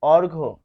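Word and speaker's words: অর্ঘ্য: স্বাস্থ্য তারপর এখানে আমরা পাচ্ছি অর্ঘ। অর্ঘ। দেখুন এখানে কি রয়েছে? এটি উচ্চারণ হবে অর অসন্ত ঘ তার মানে এই জফলা এর উচ্চারণ হচ্ছে না।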